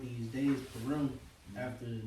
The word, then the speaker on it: Purim: Wherefore they called these days Purim, after the name of Pur.